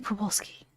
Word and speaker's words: Przewalski: It has to be Przewalski. The Z has to be silent.